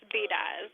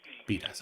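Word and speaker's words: Bedias: I'm pronouncing that correctly b-e-d-i-a-s that's pronounced bidas beat us okay yes sir okay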